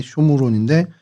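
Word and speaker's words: שומרון: 어, 사마리아는 그 쇼무론이라는 발음이 돼요. 원래 히브리 말론이 쇼무론인데 그게 이제 헬라어로 사마이아라고 이제 발음이 되다 보니까 오늘날까지도 그냥 저희가 사마리아로 주로 이렇게 발음을 하고 있습니다.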